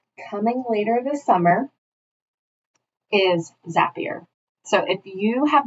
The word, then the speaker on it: Zapier: will shamelessly admit that in the beginning I called it zapier but just remember that zapier rhymes with happier because this is truly